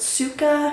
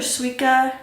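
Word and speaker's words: Suica: um I used um I hope I'm pronouncing this right but Suka or Suka it's spelled s u i c a Suka Suka I've heard both so it is the one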